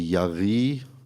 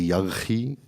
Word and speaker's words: Yarhi: Donc, À la française, c'est Yari. À l'israélienne ou à l'arabe, c'est Yarri. Voilà, alors Yari, pour nous, ce sera bien.